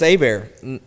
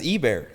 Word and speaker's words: Ebare: Like they're like, "So, it's a bear." No, it's Ebear.